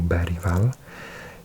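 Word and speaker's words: Bergvall: Bergval, or Bergval, if you say it properly, I think has been sensational.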